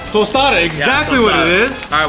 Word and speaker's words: tostada: you put the ceviche on pretty much a toada tostada exactly what it is all right while you